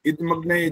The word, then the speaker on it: इदमग्नये: इदमग्नये द हलंत जैसा बोलते हो, यहाँ द पे रुकते नहीं हो। मैंने रुकने का मतलब ये नहीं कहा कि यहाँ पर पॉज देना है। इदमग्नये, द का उच्चारण नहीं हो रहा है, आधा हो रहा है हमेशा।